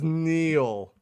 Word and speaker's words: Neel: His name is Neel, just like fucking Neil Armstrong, Neil Diamond.